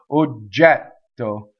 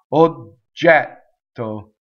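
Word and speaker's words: oggetto: to memorize it okay so now we have a double G and we have a double T or jet so so notice there's a stop information for both of those the G is like D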